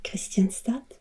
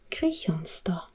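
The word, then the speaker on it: Kristianstad: boy oh this one so i would have said questions that but i saw it's pronounced crejonsto and this is pretty interesting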